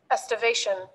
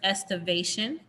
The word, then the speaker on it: estivation: how to say it estimation the word is estivation and then it will